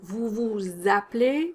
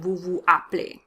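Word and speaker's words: vous appelez: of their sentence construction notice the liaison here como vous vous de play vous vous de play that's because a play starts with the vowel and vu play flows better than vu aplay french is meant to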